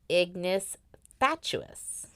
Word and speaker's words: ignis fatuus: Latin known as the ignis fatuus. I did look up how to pronounce it. That's how you pronounce it. Ignis fatuus. Okay. I always want to put a "uous" in there. Fatuous.